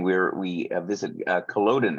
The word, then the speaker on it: Culloden: we're we visit uh Culloden is that the correct way of pronouncing that yep on the morning